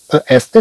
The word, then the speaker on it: est: طبعا ذكرنا هذا فيما سبق، est تنطق أي. طبعا هناك مجموعة ألفاظ تنطق أي، ولكن تكتب بطرق متعددة. مثلا كما عندنا هنا عندنا أ إس تي تنطق أي، مثلا أ تي تنطق